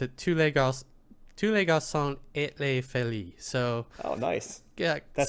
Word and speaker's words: tous les garçons et les filles: It pronounced it tous les garçons et les filles.